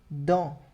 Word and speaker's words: dans: Eu tenho, par exemple, a palavra dans, ao som de on. Dans, d'accord?